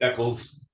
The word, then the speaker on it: Eccles: How do you pronounce that last one? Eccles.